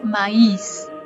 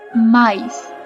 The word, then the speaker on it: mais: agregamos una y y no se dice maíz no es maíz porque el maíz no existe en portugués más la palabra maíz se dice más con la sílaba tónica en la primera es la sílaba tónica o sea recae en el maíz no os voy a